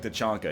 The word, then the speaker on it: T'Chaka: It is like it's T'Chaka, I think. But Okay, there you go. but they yeah. say it like T'Chonka in the movie.